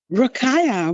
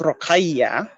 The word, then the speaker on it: Rokhaya: Rokaya, well, the way I'm pronouncing it is more the English biased way. Hey, that's fine. Rokaya is actually an Arabic name, which is pronounced Rokhaya.